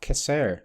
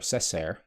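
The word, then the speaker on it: Cessair: with the coming of kisser to ireland or cesar depending on your pronunciation in the year on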